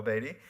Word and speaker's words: Beatty: The Sellout by Paul Beatty. That's how you pronounce his name.